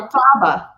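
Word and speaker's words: Elphaba: or not, out the I need to say it right. Carrie pronounces it for me. Elta does what I say, and she said, Alfaba.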